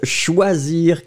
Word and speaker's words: choisir: Keep in mind that when it comes to the pronunciation, so I will take 1 second for everybody to remember that C and H together, the sound is sh, sh, sh, sh. So sh, it goes like that.